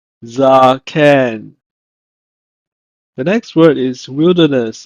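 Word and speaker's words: זקן: In Hebrew, is pronounced as zaken, zaken.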